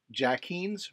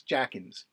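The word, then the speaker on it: Jacquin's: some distilled spirits like Jack Heen's Rock and Rye. That's how it's pronounced, Jack Heen's. No, it's not. It's Jackins. Jackins, Jackeen, something like that.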